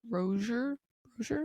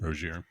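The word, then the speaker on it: Rozier: Chanty Bilips Chanty Bilips and Miami Heat guard Terry Roer Roger Roier Roier.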